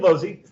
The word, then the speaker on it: Lozzi: name is not working my name is low Z last names pronounced Z you can just call me